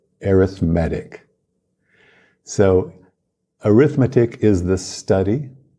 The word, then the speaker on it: arithmetic: numbers now in English we have two words that are spelled the same they're related but they have different meanings and different pronunciations we have the noun arithmetic arithmetic and then we have the adjective arithmetic so arithmetic is the